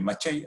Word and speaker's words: Maciej: Porque la idea era que, bueno, primero te felicito si has podido seguir el paper de Maciej, así se pronuncia el nombre del chico, que por cierto